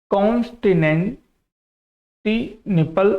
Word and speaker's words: Constantinople: थोड़ा इसका प्रोनाउंसिएशन आप लोग जरूर देख लीजिएगा, ठीक है। कॉन्स्टेंटिनोपल, इस तरीके से आप इसका बोल सकते हैं।